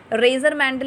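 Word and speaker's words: Mendel: मतलब 19th century के मिड में इसकी स्टडी की, इनहेरिटेंस की स्टडी की, इनहेरिटेंस को समझने के लिए रेजर मैंडल इसकी प्रोनाउंसिएशन है, रेजर मैंडल ने कुछ एक्सपेरिमेंट कंडक्ट किए, हाइब्रिडाइजेशन एक्सपेरिमेंट कंडक्ट किए।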